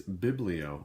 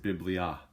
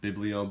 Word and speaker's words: biblio: first one here is biblio, or you could pronounce it biblia, because that vowel O at the end could say its name, or it can use the short vowel sound biblio, biblia.